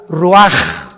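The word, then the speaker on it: רוח: Ahora el versículo 29 del mismo capítulo, y exhaló Isaac el Roach. Así como suena, se pronuncia la CH en hebreo como J, Roach.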